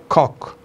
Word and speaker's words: coccidiosis: Cudurka saddexaad waxa loo yaqaanaa coccidiosis. Cock. The proper pronunciation of this biological term is cock.